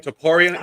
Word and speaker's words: Topuria: That's how you pronounce the name? Topuria?